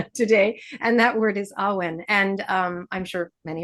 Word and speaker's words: awen: So awen and the meaning of awen consisting of two syllables awen essentially translates it poorly